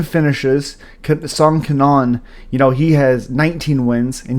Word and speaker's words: Kanon: A really first fight I think you guys should really watch is Rolando Bedoya versus Kenan Song Kanon.